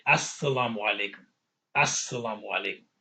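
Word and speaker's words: السلام: So when we say as, think about the fact that the as that you hear at the beginning, that's you're making it a definite article. That as stands for al, but you can't pronounce the al.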